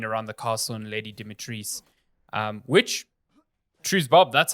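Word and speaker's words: Dimitrescu: marketing has been around the castle and Lady Dimitris, which, truth Bob, that's how you say her name.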